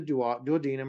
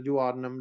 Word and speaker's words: duodenum: out the pyloric valve into the duodenum or the duodenum, depending on how you want to pronounce that, which is pancreatic juice, and then it goes into the small intestine.